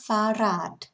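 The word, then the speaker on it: Fahrrad: เลย นะ คะ เป็น does ฟ้า ด แปล ว่า รถ จักรยาน นะ คะ ถ้า เป็น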